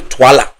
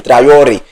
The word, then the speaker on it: Traore: Ibrahim Traore, and that is how it's supposed to sound in your ears.